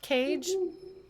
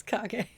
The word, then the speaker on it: Kage: kage whose name's not cage despite what little lauren might have thought his name is not cage it's kage i didn't know how